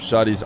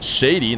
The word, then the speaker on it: Shadi: against Luis p shoddy by the way is the way I say his name I believe we had some time discussing how to say it correctly I know a lot of people are going to read Shady Nice Shot here as